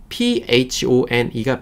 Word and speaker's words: phone: 폰 아니고 PHONE가 붙어 있죠. 끝에. 이 PHONE 같은 경우는요. PH는 우리 어떻게 발음되냐면 F 발음 나요.